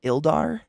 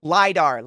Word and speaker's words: LiDAR: How do you say that? Ildar? Ildar. Purgatory Dagger, dude. That would be fucking sick. LiDAR. I wasn't sure if it was a lowercase L or not.